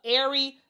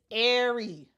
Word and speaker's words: Aari: announced the signing of Ary McDonald. And I'm so happy they put the pronouncer here. It's Ary Air Ary McDonald via emergency hardship exception.